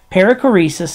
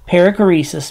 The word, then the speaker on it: perichoresis: here's here's Torrance again paracoresis is spelled with an Omega not an Omicron that's the long o with the Omega periclesis means making room or